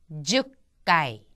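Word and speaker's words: 十階: 로까이 나나까이 나나까이 하츠가 하츠까이 큐까이 큐까이 죽까이 죽까이 자 지금 여기 나와 있는 주가이라고 하는 것도 10은 주였지만 10층할 때는 주가이가 된다는 거 잘 기억을 해 두시기 바랍니다.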